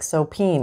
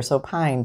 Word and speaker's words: Soapine: And it can be personal toiletry soap, or it can be laundry washing soap, like soapine or soapine, depending on how you say it.